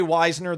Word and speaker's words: Wisner: So we got Tre Wisner, the running back from Texas. That's how we pronounce it, kids.